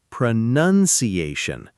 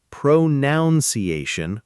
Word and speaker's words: pronunciation: It's pronunciation. Notice it's not pro-noun-ciation with an extra own sound in there. That's actually a very common written and spoken mistake. Yes. People confuse it with the verb pronounce and accidentally add an extra own sound into the noun form. Just remember, pronounce but pronunciation.